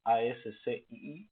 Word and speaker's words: ASCII: Se escribe ASCII, pero se pronuncia ASCII.